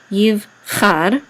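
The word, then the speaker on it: יבחר: yud with a chirik, and the vet together will say yiv, the shava is silent, and this is a chet with a patach, and the resh says char, yiv char, and this means will choose or shall choose.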